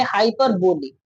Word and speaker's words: hyperbole: तो इसका उच्चारण हम लोग करेंगे हाइपरबोली। कभी कभी कोई हाइपरब या हाइपर बोल बोल देता है। लेकिन हाइपरब इसका परफेक्ट उच्चारण है।